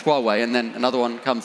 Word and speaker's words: Huawei: So we spent 15 years trying to work out how you pronounce Huawei, and then another one comes along.